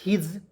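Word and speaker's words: his: बाद एस आई एस हिज तो ए आई एस से क्या पढ़ेंगे हिज पढ़ेंगे हि ज हिस नहीं पढ़ेंगे एस का उच्चारण यहां प ज के रूप में करेंगे हिज हो जाएगा और हिज मीस क्या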